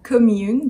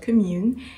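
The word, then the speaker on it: Kahmune: a shoe brand of course uh it's called commune that's how you pronounce it although that's not really how you write it but it's called commune it's based in the u.s i believe and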